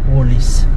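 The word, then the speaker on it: Woolworths: Ayan makikita niyo woolws pero ang bigkas nila or ang basa nila is or ang tawag nila is wolies.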